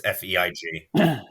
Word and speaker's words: Feig: It's Feig. I'm so used to saying Feige. It's not Feige.